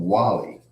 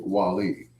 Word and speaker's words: Wali: He called him Wally. He said, so do your friends call you Wally? He said, no, they call me Wali.